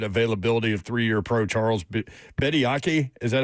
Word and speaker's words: Bediako: Revolving around the Tennessee-Alabama game, obviously, Saturday was the immediate availability of 3-year pro Charles Bediako. Is that how you pronounce his name? Bediako, thank you.